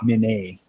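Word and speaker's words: Minié: Yeah, that was It's the one French word that I won't try to pronounce properly, because when I started black powder, it was a mini ball. But you're right, it's Minet. Minier ball.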